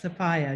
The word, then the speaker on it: Sophia: not to know that my name is pronounced sapphire just in case anybody